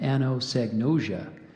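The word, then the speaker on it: anosognosia: evident Holly's Grandmother Had ano sagnosia as a consequence of dementia which meant she didn't understand why she couldn't remember things so I gave you the pronunciation of anosagnosia there's also ano sagnos Kia I'll do those both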